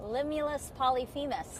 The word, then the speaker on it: Limulus polyphemus: Limulus polyphemus.